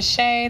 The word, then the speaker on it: Shea: my name is shea that's shea like the butter for all my melanated